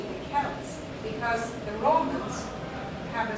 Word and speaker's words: Celts: But actually, the correct way of pronouncing this word is a hard C, the Celts, because the Romans have a soft C.